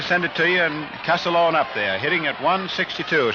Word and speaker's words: Castiglione: Castellone has a terrible time getting his name pronounced the way he wants it. It's spelled Castiglione. It looks like it's an awful tough one. But the way he says the family pronounce it is Castellone, just like Casalon, Castellone.